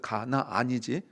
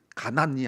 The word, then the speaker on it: 가나안: 발음을 잘 들으세요. 가나안이지 가난이 아닙니다. 가나안이에요.